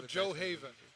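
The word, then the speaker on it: Gjoa Haven: Oh, Joe Haven. Joe Haven. Joe Haven. Cool. But the way you spell it. Is Joe Haven. The way you spell it is Gujoa Haven.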